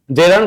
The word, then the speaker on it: gerund: আছে একটু খেয়াল করব জেরান্ড ভারসেস কি পার্টিসিপল এইযে জেরান্ড এটা উচ্চারণ কিন্তু জেরান্ড মাথায় রাখব আমরা উচ্চারণ কি জেরন্ড ঠিক আছে এটা পার্টিসিপল